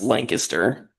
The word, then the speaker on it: Lancaster: It's It's pronounced Lancaster.